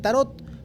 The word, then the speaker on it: tarot: Cuando las cartas viajan a Francia entre los siglos XV y XV, la palabra tarochi se transforma en tarot pronunciado sin la t al final.